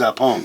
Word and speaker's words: Zappone: So it's Zappone, like Capone. Yeah, like Al Capone.